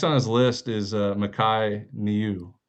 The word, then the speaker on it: Niu: So next on his list is Makai Niu. How do you pronounce his last name? Micah New. Micah New.